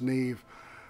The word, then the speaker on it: Nev: And it turns out that this guy, his name's Nev or Neve. It looks like Nev to me, but I was told it's pronounced Neve.